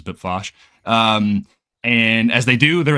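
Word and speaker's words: Bpfassh: in the Sluice sector, Bipfosh, or however you say it. That's how I pronounce it, was Bipfosh.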